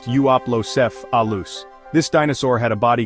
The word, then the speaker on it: Euoplocephalus: Now let's check out the Euoplocephalus, pronounced Euoplocephalus.